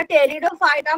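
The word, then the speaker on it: Pteridophyta: टेरिडोफायटा मधले जे आहेत आता टेरिडोफायटा म्हणताना सुद्धा त्याच्या स्पेलिंग मध्ये सुरुवातीला पी येत बरं का पी वरून नाही पी वरून सुरुवात होते त्यामुळे त्याचे स्पेलिंग नीट लक्षात ठेला म्हणताना आपण टेरिडोज म्हणणार पण त्याच्यामध्ये पी असतो या गटामधली जे वनस्पती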